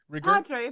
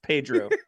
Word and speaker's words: Pedro: Just Padre, please. Oh, sorry. Padre, can you hear me? All right. It's pronounced Pedro.